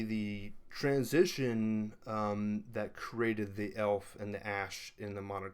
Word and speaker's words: Aelf: is that time when we get the spelling AEL F for the word elf and basically what it is is there is no differentiation between the a and the e it's a single letter based upon a room